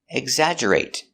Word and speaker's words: exaggerate: Remember to use a stop t. Exaggerate. Not exaggerate but exaggerate. Exaggerate.